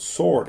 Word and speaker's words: sword: i first learned that the letter w in the word sword is not pronounced it's not pronounced sword